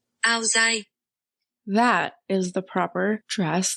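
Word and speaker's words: áo dài: Okay, well, I don't know how to say this, but it's AODAI, and this is apparently the pronunciation from Google. Aozai.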